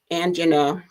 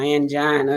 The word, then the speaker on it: angina: it now there is something called angina or angina depending on how you want to pronounce it that occurs when the